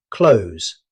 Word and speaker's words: clothes: Although it's spelled with th, most native speakers simplify it to clothes. The th sound usually disappears completely.